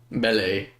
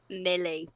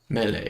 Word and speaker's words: melee: Isn't it called me? Mele? No. Mey? No, it's it's just not. It's called mele. But why? Because that's it's a medieval word. You pronounce it in a medieval way.